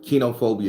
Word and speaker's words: koinophobia: So kenophobia is spelled koinophobia, but is the technical term is kenophobia.